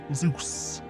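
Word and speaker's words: Zos: My name is Zeus, but it's spelled Z O S. Zeus.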